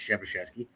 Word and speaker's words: Przybyszewski: So he's like, "You don't want to pronounce my name right," but with the way it's spelled, it's Przybyszewski.